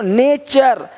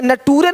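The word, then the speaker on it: question: देखो नेचर, यहाँ पे नटूरे नहीं बोलते, नटूरे नहीं, नेचर, है ना।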